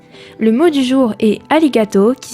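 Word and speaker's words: arigato: traduire en français le mot du jour est alligato qui s'écrit a r i g A T o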